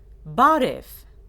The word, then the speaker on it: barev: the interlocutors started the conversation with the greeting barev is an informal greeting it is used to greet our peers and people who are close to us let's pronounce it please listen and then repeat barf the word John which the interlocutors use after